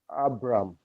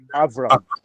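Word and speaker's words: אברם: Shmo Abram. Avram. Very good. Shmo Avram. And congratulations, Rabbi Chimdia, for not forgetting that the Patach is a short A.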